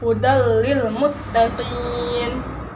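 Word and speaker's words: هُدًى لِلْمُتَّقِينَ: Ini ya, ini tanwinnya hudal lil muttaqin, langsung dimasukkan, tidak didengungkan. Kebanyakan orang bacanya biasa di sini didengungkan, padahal tidak boleh didengungkan. Jadi harus langsung dimasukkan menjadi hudal lil muttaqin.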